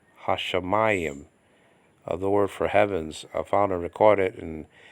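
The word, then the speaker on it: השמים: And so the letter can double, but you're gonna have to do the doubling yourself and pronouncing it. Okay, like the word for heavens actually, hashamayim, hashamayim.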